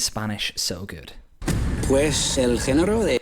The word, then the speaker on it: género: Pues el género de... Straight away, there's that famous Castilian annotation from central Spain with a soft G on género, which is the genre, el género.